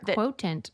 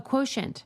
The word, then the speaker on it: Quotient: It's a media company or Quotant. Qu U O T I E N T. Oh, Quotient.